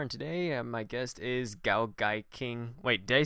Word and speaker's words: GaoGaiKing: I'm your host JD Carr, and today my guest is GaoGaiKing.